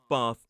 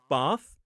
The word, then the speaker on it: bath: So I would say bath and grass and path. Whereas somebody from the north may say bath, grass and pass. They are both correct. They are just different accents pronouncing things in a slightly different way.